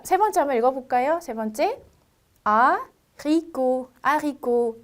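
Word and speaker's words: haricot: 자, 그렇기 때문에 T라는 거는 끝 자음이라고 하죠. 스펠링은 있지만 발음은 없어요. 그래서 제가 아리꼬트 절대 안 되고 아리꼬.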